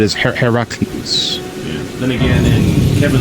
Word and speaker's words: Heracles: And pronunciation is Heracles.